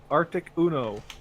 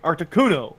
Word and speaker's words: Articuno: I have an Articuno and a Zapdos now. Wow. So, The way you said those names makes me want to kill you. Zapdos, Arctic Uno. Like, Yeah. seriously, 1, 2, 3, Articuno, Zapdos, Moltres.